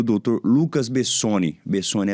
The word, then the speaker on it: Bessoni: Bessoni é assim mesmo que pronuncia, doutor?